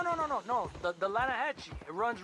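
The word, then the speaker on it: Lannahechee: caught some beautiful steelhead trout you mean the lanahashi river no no no no no the the lana hatchy it runs right near here yeah but it's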